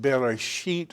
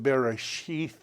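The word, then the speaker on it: בראשית: Pronounced Bereshit, or some people pronounce it Bereshith. It depends on if you're trying to do the old pronunciation or the new.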